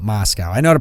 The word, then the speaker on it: Moscow: them down the Moscow they're not mask al but Moscow I know to pronounce